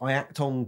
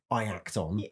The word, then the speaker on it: Iacton: it was like Yacton. Yacton Cruz. Yeah, it's sort of Iacton. But I quite like it. It's like, it sounds older if it's like Iacton. Yeah. It's like Obadiah. It's got too many syllables, right? So you stick to Iacton. Yacton Cruz.